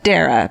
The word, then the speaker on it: Darra: Do Murderino Yoga, Darra, pronounced like Sarah.